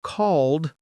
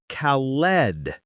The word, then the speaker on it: called: So you can say, we are playing a game called Find the Ghost. Let's focus on pronunciation, the word called. We don't say Khaled. We say called.